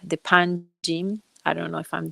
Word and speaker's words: Panjim: The Panjim. I don't know if I'm doing it right, if I'm pronouncing it right. The Yes, yes. Panjim Bridge.